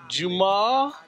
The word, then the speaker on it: Juma: Juma. Correct. That's the correct. Now people are pronouncing it right.